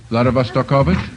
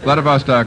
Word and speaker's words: Vladivostok: Vladivostokovich? No. Vladivostok is right.